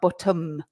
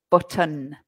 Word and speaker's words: button: Belly button with an N, not bottom, button.